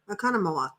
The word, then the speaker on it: Oconomowoc: Nancy phonetically spelling the correct pronunciation, Oconomowoc. Oconomowoc. You actually pronounced it walk, the last one.